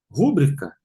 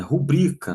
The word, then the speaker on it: rubrica: Rúbrica. Ãã. É rubrica, não tem acento. É paroxítona.